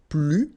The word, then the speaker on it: plus: First structure, if you want to use this more, okay, so you will use this plus, and in that case you don't pronounce the S, okay, plus.